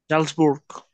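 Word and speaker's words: Salzburg: এখন এ বাউল, জাল এসটা হচ্ছে ফার্স্টে, তাহলে এটা অবশ্যই বর্গীয় জয়ের মতো উচ্চারণ হবে। জালসবুর্গ হ্যাঁ, জালসবুর্গ।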